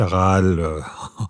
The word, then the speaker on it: Rahal: éditions La Découverte de Malika Rahal Rahal prononciation française qui euh concerne l'année